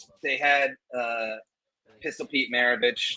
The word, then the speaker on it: Maravich: No, I mean, like, they had Pistol Pete Maravich. I always used to call him Pistol Pete Maverick because it was easier to pronounce it like that when I was a kid, who played for the Mavericks.